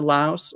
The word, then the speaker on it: Laos: Thailand and you mentioned Laos is the language that they speak in Laos called Lao yeah um they don't pronounce the S on the end interesting okay so how